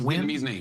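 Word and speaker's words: Nguyen: How you pronounce it, Chris? It's Win. NG is the closest.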